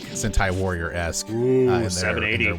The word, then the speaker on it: Sentai: Yeah, and like it's I guess it's probably closer to like I always mispronounce this, but like the Seinen Warriors, like the Power Ranger-esque type of thing. Sentai? Sentai, thank you.